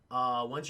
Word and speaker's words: Aang: Once you're done, you can leave. And he's like, okay, or An. I'm sorry, chat. I keep saying Ain. The correct pronunciation, it's On.